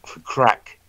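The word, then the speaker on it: craic: in America you know a crack actually is a north of English word that was imported into in into Ireland it's spelled c-r-a-i-c people it means big fun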